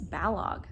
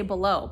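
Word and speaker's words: Balogh: you say it i i listen to rosalind she's narrating it say it and i think it's balog um so anyways i used to say below but whatever so i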